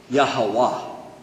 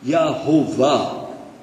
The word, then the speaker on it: Yahweh: Muslim yeah right so Jehovah is definitely an English pronunciation of the word yahwah it's Y without any vowels non Jews added vowels and said well it's probably yahovah but it's yah what